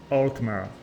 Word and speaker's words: Altmer: So, Altmer, right? Is that correct now? No, still not correct at all. It's Altmer, the simple syllables.